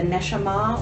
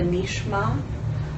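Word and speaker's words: נשמה: that's called uh the nesama or the nishma um I like both of those ways of pronouncing it because in Hebrew uh nesama would mean something like she who listens and I like that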